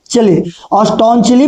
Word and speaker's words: staunchly: at a time when England was staunchly anti-Catholic, STAUNCHLY, इसको कहेंगे क्या, स्टॉन्चली पढ़ते हैं, इसको प्रोनाउंसिएशन करते हैं, समझ गए ना, स्टॉन्चली एंटी कैथोलिक मतलब उस समय इंग्लैंड कैथोलिक धर्म के कट्टर विरोध में था।